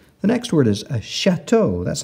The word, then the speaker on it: chateau: a t e a u lots of vowels Chateau a chateau our next word is parachute so we have Pera spelled with p-a-r-a para then we have our CH